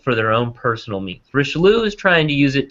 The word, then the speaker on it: Richelieu: Richelieu? Richelieu.